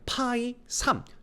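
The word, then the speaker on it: Π: 자, 요거 읽을 때는 5 그다음에 파이 3 요렇게 읽습니다.이 파이라고 읽는 이유는 뭐냐하면이 5가 똑같은 수가 세 번 곱해졌죠.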